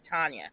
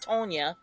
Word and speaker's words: Tanya: Like, you cannot tell me how to pronounce my own goddamn name, and it's not Tonya, it's Tanya.